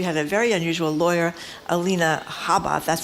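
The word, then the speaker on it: Alina Habba: that case we had a very unusual lawyer Alina Haba that's how you say it who was the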